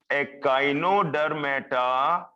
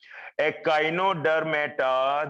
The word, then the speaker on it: echinodermata: then we have phylum echinodermata echinodermata take the pronunciation from me i'm pronouncing it so completely you can pick up these pronunciations a kino der meta then we have next